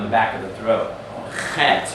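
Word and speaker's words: חית: Het, you have to pronounce in the back of the throat.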